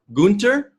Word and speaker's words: Gunther: T house we are joined today by Gunther did I pronounce that correctly goonter gunther it's buried in I'm gonna exchange it